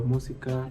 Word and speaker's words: música: Se acentúan en la antepenúltima sílaba y siempre llevan tilde. Por ejemplo, música, América y próximo. Música en la U, América la E y próximo la U.